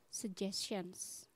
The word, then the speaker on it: suggestion: Karena G di sini dibaca G ya, suggestions.